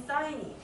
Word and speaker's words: sin: 했어요 처음에 할 것은 sin으로 쓸 건데 얘는 사인이라고 읽어요 사인 다 한번 해봤을테니까 이제